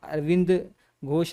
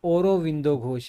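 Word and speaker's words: Aurobindo Ghosh: हालांकि इनका नाम अरविंद घोष नहीं है, ओरोविंदो घोष है, प्रोनाउंसिएशन ओरोविंदो घोष है।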